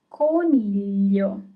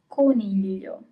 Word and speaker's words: coniglio: Rabbit is coniglio. So here you have G-L-I at the end. Coniglio.